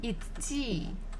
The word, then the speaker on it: идти: So now we have the verb идти.